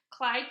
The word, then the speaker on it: Clyde: "It rhymes with slide, and that's what you have to do. Slide the tray along the counter, okay? Clyde, slide," she chuckled. "Okay," said Clyde. Clyde took his tray.